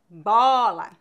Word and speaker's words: bola: que isso quer dizer quando pronunciamos o aberto devemos abrir mais a boca avó bola quando pronunciamos o o